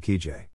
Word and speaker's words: Kijé: The sound is a voiced SH, and sounds like the S in measure when said by a speaker of American English.